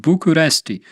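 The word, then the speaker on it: București: read the text uh the capital of Romania is pronounced by in the world as buest but in fact in Romania it is pronounced totally different bucharesti ah I didn't know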